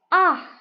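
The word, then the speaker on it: acht: 8 dibacanya ah. Memang untuk CH ini kita lebih kayak dominan h-nya ya. Jadi bukan tapi ah.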